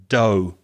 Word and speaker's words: dough: substance called dough now the spelling might confuse you d-o-u-g-h the pronunciation is do the same vowel sound as no or go or throw etc do and o if you